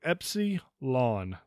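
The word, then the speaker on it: Έψιλον: correctly it is thta Epsilon the last part of it is lawn like your grass so Epsy lawn Zita ITA Theta a lot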